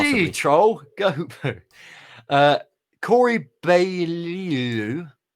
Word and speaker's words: Beaulieu: Corey Beaulieu. I never know how to pronounce his surname. I think it's Corey Beaulieu. I think it is. Beaulieu.